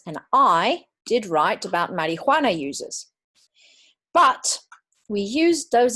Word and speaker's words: marijuana: So yes, I speak Spanish as well, so I pronounce it in the Spanish way.